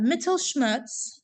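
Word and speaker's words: Mittelschmerz: in his slides uh metal Schmutz that's literally how it's pronounced metal Schmutz uh that's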